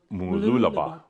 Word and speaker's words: Mooloolaba: are acing mooloolaba and it's mooloolah bah and it's like pinky I mean it's still